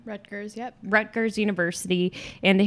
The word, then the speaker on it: Rutgers: According to Rutgers, is that how you pronounce that university's name? Rutgers, yep.